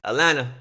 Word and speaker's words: Atlanta: know as i say atlanta they don't pronounce the t is alana and the most influential